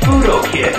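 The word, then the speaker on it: Fudo Ken: It's pronounced fudo kid.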